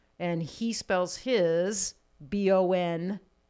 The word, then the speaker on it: Bongiovi: the regular so it's he just phonetically spelled it for the band b-o-n-j j o-v-i bon jovi because it's hard to screw up when it's b-o-n like yeah jovi you can sound it out like booked on five